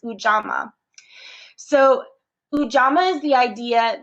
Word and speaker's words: Ujamaa: And one of the values in Kwanzaa, and hopefully I listened several times to try to make sure I was pronouncing it correctly, but it's Ujamaa.